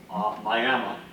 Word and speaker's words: Miami: And this one was in Miami, Oklahoma, but it's pronounced Miami.